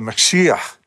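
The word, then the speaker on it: משיח: An anglicized Hebrew version of the name is Joshua the Messiah, or more phonetically correct, Yeshua the Mashiach.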